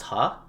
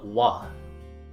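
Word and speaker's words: は: of these sentences but typically this is pronounced ha but in the case of connecting two thoughts like connecting the i with my name that's the wah it's a specific pronunciation and as we go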